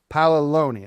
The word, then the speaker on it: Paoloni: Paloneyi. Palo. Now, you see why I had a little problem. I mean, you got to have the looney. Paloni.